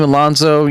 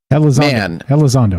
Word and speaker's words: Elizondo: So I'm not 100% Team Alonzo, but Elizondo. Elizondo. I say his name a lot. I should say it right.